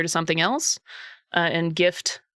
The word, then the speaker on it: GIF: Uh and gift like to give somebody a present. Um give somebody a gift. Tango, how do you say GIF? Also, hi with the G like God intended.